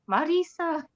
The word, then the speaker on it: Mirriam: Erin I love how you say my name Marisa um but that is the way you say